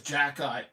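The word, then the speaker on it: Xhekaj: it's Jack-Eye. X H E K A J. Somehow spells Jack-Eye.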